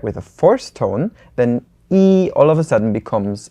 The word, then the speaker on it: 一: We are talking about E today, which is 1. So whenever it's used as a number, it's just a plain first tone, E.